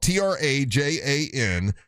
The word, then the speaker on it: Trajan: It's spelled TRAJAN, Trajan.